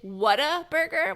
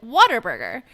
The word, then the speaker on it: Whataburger: We got to know, is it Whataburger, which is the correct way to spell it? Like what a burger, right? Or is it Waterburger, like water? Because in Texas, we all pronounce it Waterburger.